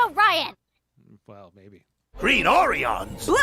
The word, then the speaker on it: Orion: exactly where's that uh it's pronounced and it's pronounced Orion well maybe green orans blue Orion so go